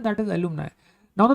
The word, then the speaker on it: alumni: के लिए मुझे यूज करना है दैट इज एलुमनाई।